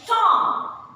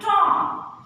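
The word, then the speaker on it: tomb: So when it is silent, when B consonant is preceded by M. जब B letter से पहले M होगा तो उस केस में जो B है उसके साउंड को आप साइलेंट रखेंगे. For example, Tom.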